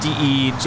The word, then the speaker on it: Desjardins: Desjardins? Is that how you say it? She should be there now. Desjardins, is that how you say it? Yeah. Day. Day, I think it's just DEJARDINS.